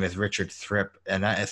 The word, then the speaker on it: Thripp: for congress here and my name is richard thrip and that is spelled t-h-r-i-p-p you can see over there actually